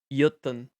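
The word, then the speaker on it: Jötunn: Jötun. So it's like a Y. And then the O is like a E.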